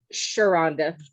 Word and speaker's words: Sherhonda: Now, Sherhonda, is that how you say your name? Sharonda. Sharonda, thank you. Yeah. H is silent.